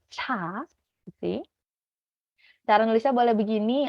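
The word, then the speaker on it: ㅊ: Ada ciet, ini dibacanya ca.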